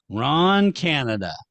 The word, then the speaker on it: Canada: well his name is his name is Canada Ron Canada sounds like a character well